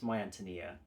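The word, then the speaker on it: My Ántonia: about this novel, and they corrected my pronunciation. So it's My Antonia, and I love this so much.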